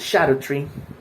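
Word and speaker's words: Scadutree: When it comes to the Shadow Tree fragment, and yes, it is pronounced Shadow Tree.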